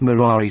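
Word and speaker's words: morari: way of jest that he had ceased murari 602 amongst men pronouncing the first syllable long and treated as null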